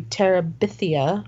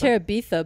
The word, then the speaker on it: Terabithia: grade called bridge to pterabithia orbi i don't know guys yeah i thought it was tarabitha but no i was wrong i've been saying it wrong all these years i